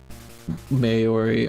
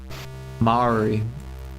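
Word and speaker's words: Māori: sure we could more easily found a pronunciation of Maori, however you say it.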